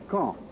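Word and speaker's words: Caen: of gravity in these reported military operations is K I'll spell that c a en the big city at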